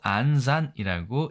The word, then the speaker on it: 暗算: 일본은 암산이라고 쓰고 안산이라고 읽습니다.